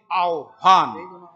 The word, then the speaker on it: आह्वान: पहले हकार होगा, उसके पेट में मकार होगा, वैसे ही आह्वान, पहले हकार का उच्चारण नहीं होगा किंतु लिखते समय वैसे ही होगा। आह्वान, व का पहले उच्चारण फिर ह का उच्चारण।